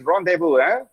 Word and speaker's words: rendezvous: Okay, because it's a purely a French word. Okay, and it's very commonly used. Normally, when they say, okay, let me tell the word how it is pronounced. Rendezvous. Rendezvous. அது உங்க language நீங்க எழுதுங்க. Okay, rendezvous. Vous na you in French.